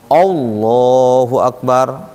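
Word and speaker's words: الله أكبر: pangeran macam-macam itu sebutannya kalau kita membaca lafaz ini hati-hati karena lamnya di sini lam tebal dia Iya lam tebal itu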